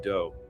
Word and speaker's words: Do: This guy Marshall Appawite, but his friends called him Do which rhymes with Joe.